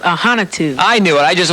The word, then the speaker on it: Ahanotu: right we have ahantu how I do well my last name is pronounced aanu I knew it I